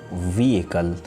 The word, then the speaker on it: vehicle: We have another word called vehicle, but it's often mispronounced like vehicle, or something like that.